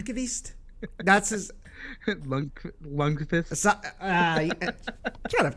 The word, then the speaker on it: Lundqvist: Lundqvist.